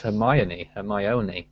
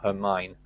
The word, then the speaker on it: Hermine: Martinez says, back in 2010, I thought the name Hermine was pronounced Hermione, like the Harry Potter character. Oh. I thought it was Hermione as well. Who cares? No, but it's Hermione, not Hermine. Hermine, that's how I pronounce it anyway.